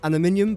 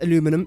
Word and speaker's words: aluminium: water per minute and I do pronounce it as aluminium but you might pronounce it as aluminum it's still the exact